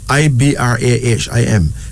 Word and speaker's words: Ibrahim: I-B-R-A-H-I-M. Pronounce Ibrahim, okay?